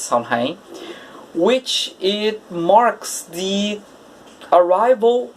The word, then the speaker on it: Samhain: pronounce it correctly but it's called samhain i believe it's somehow which it marks the